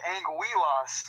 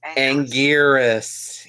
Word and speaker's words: Anguirus: Well, the Japanese pronunciation of the name, the R sounds like an L because they roll their R's a lot.